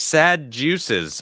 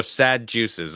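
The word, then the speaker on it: Sadducees: It's pronounced sad juices. Oh, thank you. All right, there it is. I got it right that time. Shit, I don't even. So sad juices.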